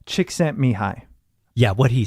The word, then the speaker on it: Csikszentmihalyi: so I actually think I know how to pronounce it because I've referenced this a few times and it's me who lie Csikszentmihalyi yeah what he said I'm pretty sure that's